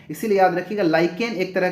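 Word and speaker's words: lichen: निर्माण होता है ठीक है 22 वां प्रश्न लाइकेन क्या है ठीक है लाइकेन क्या होता है लाइकेन का spelling L आई सी एच ई एन होता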